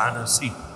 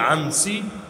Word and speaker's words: আনাসি: জনের নাম হলো আসওয়াদ আনাসি যদিও অনেকে বলে আনসি শুদ্ধ উচ্চারণ হলো আনাসি আসওয়াদ আনাসি তার বাড়ি